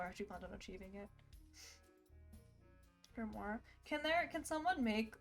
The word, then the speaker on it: grimoire: How do you pronounce O-I-R-R-E, though? War? Yeah, that's what I was confused about. It's a grimoire.